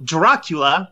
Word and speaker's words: Dracula: theory well you know Dracula the main antagonist rhymes yeah rhymes with Petula Scott Bakula is a popular